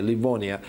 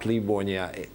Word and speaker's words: Livonia: known as livonians and we have no right to pronounce this toponym that way Livonia because it used to be spelled through an epsilon that means it's Livonia not Lavanya and in the primary chronicle